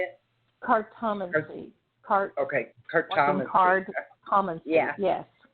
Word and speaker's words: cartomancy: Cartometry, is that how you say it? Cartomancy.